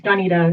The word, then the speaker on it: Donita: creative i like it it's danita it's really close though that's cool too danita